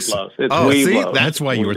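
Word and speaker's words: Webelos: Yeah, I was thrown out of Weblos. There was a scandal we've talked about in previous shows. Because I think it's Weblos. Is it Weblos? It is Weblos. So. Weblos.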